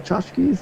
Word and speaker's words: tchotchkes: I actually don't know how to spell tchotchkes. Is that the proper spelling for tchotchkes? That is the right way to spell tchotchkes. There's a silent T in the front.